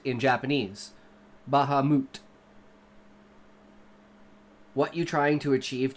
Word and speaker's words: Bahamut: In context, Bahamut to me is actually a Japanese word because it comes from Final Fantasy.